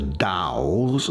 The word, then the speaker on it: Tao: That's really one of the Taos, that's spelt T-A-O, but it's pronounced Tao.